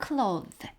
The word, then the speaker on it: clothed: clothed. 인데요. 이렇게 D가 붙어서 clothed. 이렇게 다 사실은 발음이 됩니다.